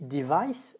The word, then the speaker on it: device: appareil électroménager, un appareil, a device, ça s'écrit, là aussi c'est en deux syllabes, mais ça se prononce cette fois-ci vice.